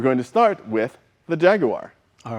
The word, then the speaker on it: Jaguar: UK they think that Americans over pronounce the third syllable in Jaguar because it's almost a mute syllable but it has to be there so it's not Jaguar it's Jaguar so depending